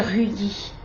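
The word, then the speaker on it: Ruyi: 056 ou 079 pour les Nanseng, pour les Rudy, comme ça s'écrit R-U-Y-I.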